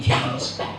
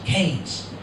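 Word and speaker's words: Keynes: E Y, N, but here in the village we prefer to pronounce it Kees.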